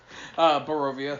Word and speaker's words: Barovia: They may be in, how do you pronounce it again? The place Cahoots? No. Barovia.